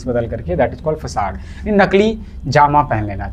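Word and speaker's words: façade: करना कंट्रोल करना next word is फसाड इसको फसाड पढ़ते हैं फसाड क्या होता है डिपेक्टिव डिसेप्टिव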